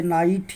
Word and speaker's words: knight: जैसे नाइट, need, knee, nil, no, knife, not. एन के पहले अगर के आ जाए तो वहाँ पे के का उच्चारण नहीं होगा।